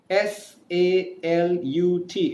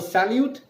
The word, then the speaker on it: salut: u.s.a L u T s al u T is not a salute it's called as cell you in French because in French the last consonant sounds are not pronounced so I'll give you